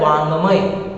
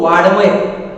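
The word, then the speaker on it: वाङ्मय: जैसे कि शब्द दिया जाता है वांगमय, तो कुछ लोग उसको वाड़मय कैसे पढ़ते हैं, वाड़मय, तो वो वाड़मय नहीं होता है बल्कि वो वांगमय होता है। वांगमय का अर्थ होता है साहित्य या लिटरेचर।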